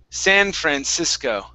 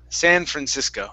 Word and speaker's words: San Francisco: All right, let's try and gringify this word. Okay, so just like a gringo, San Francisco. San Francisco. Try that. San Francisco. There you go. Okay, nice and gringo.